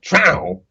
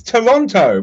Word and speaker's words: Toronto: to be said, but because they lose half the syllables and just call it trow, like people get mad when I pronounce it properly. It's Toronto, but they're like, no, it's trow, and I'm like, okay, well that's T-O.